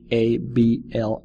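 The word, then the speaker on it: hablar: to the verb for to speak abl it's spelled h a b l a r abl imagine two beautiful young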